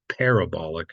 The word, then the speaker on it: parabolic: syab it's Parabola and not like Parabola it's interesting if you change and you use it more like as an adjective and talk about something in its parabolic state then you do put the emphasis on the first a like it becomes parabolic as opposed to Parabola so not that it